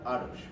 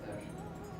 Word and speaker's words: Tarush: You know you are Arush, right? Arush. Tarush. Right? Arush, right? Tarush. Am I saying it correctly? Tarush. T. It starts T. with Tarush.